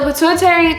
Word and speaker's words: pituitary: Uh, it's a pituitary tumor.